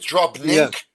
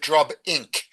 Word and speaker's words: drobnink: And the underlying word is drobne with a nun, and so you expect drobnink. Although it's kind of hard to pronounce, so you can understand what people would say drobing.